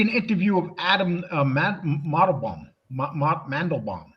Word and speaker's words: Mandelbaum: Mandelbaum. Pronounce my fucking name right.